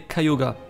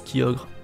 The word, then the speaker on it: Kyogre: ces pokémon tiago se prononcent chez les japonais cayuga non le prononce kyogre est ce normal cayuga cela vient de caillots